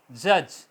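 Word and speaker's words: judge: बोला जाता पर एग्जांपल जज के यू दी जी ए तो दी को हम नहीं बोलेंगे प्रणम नहीं करेंगे जज आएगा इस टाइम ब्रिज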